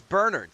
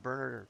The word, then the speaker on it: Bernard: It's Bernard. See, some people pronounce it Bernard.